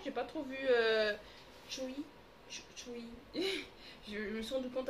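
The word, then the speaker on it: Tzuyu: avec les années que je ne savais pas prononcer son nom parce que moi je disais Tsuyu parce que ça s'écrit Tsuyu. Et puis non, Chewy. Je crois que ça se prononce comme ça.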